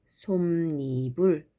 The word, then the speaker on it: 솜이불: 그랬을 때, 요 사이에, 요 솜과 이불 사이에 니은이 더 생긴다는 거죠. 그래서 발음을 솜이불 이렇게 하게 됩니다.